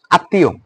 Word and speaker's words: আত্মীয়: শব্দের প্রথমে ম ফলা এবং ব ফলাও উচ্চারিত হয় না, মাঝে বা শেষে দ্বিত্ব হয়। ম ফলার ক্ষেত্রে আনুনাসিক হয়, রাইট? আনুনাসিক হয়। উদাহরণ দিলে তোমরা বুঝতে পারবা। আত্মীয়, আত্মীয়, তয়ের সাথে কিন্তু ওটা দন্তেন না, তয়ের সাথে হচ্ছে ম যুক্ত।